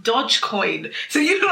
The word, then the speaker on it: Dogecoin: things very quickly guys it's not doggy coin it's pronounced dodge coin so you look like a bizzy i've been holding myself like guys it's pronounced dodge coin um so it's been